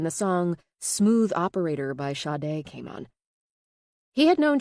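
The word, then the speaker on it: Sade: song Smooth Operator by Shade came on. He had known Chi-Chi for about a year and it finally hit him. That's who she reminded him of. Shade Adu, pronounced Sha.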